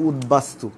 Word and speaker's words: উদ্বাস্তু: তোমরা যদি দেখে দেখো তাহলে বুঝবে, তাহলে উদ্বাস্তু উচ্চারণটা দেখো, উদ্বাস্তু বেলিত, উদ্বেলিত দেখো তো দেখি তাহলে, তাহলে উদ উপসর্গের সাথে ব যুক্ত হলে বয়ের উচ্চারণ হয়, এটা হচ্ছে 4 নম্বর রুলস।